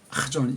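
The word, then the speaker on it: חזון: 키읔과 히읗이 두 가지가 결합된 한 자음으로 발음을 낼 수 있어야 됩니다. 그래서 하존, 자 이렇게 슈바가 오른쪽에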